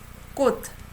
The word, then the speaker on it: 꽃: When you say this by itself, okay, 꽃, you don't say ch sound. You say as 꽃. Okay? If you pronounce ch, it sounds weird. I remember one of my students was pronouncing, 꽃, ch, sound. Sometimes it can be interpreted as, man's penis. Okay, so 꽃. Make sure if you just pronounce only this, it is D sound, 꽃.